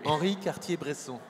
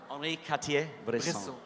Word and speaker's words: Henri Cartier-Bresson: Let me pronounce that right for you. Henri Cartier-Bresson. Henri Cartier-Bresson.